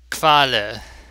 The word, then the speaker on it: Qualle: Qualle. Qualle. The QU is pronounced the same as KW, which is kv.